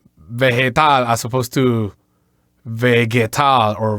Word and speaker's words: vegetal: Yes, Bill, every time there is a vowel E and I after the letter G, the letter G is always going to have that sound, that H, English H sound.